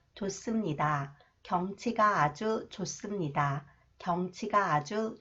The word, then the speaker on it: 좋습니다: final consonant He is followed by shod is pronounced 쌍시 sound sound 좋습니다 좋습니다 경치가 아주 좋습니다 경치가 아주 좋습니다 넥트 one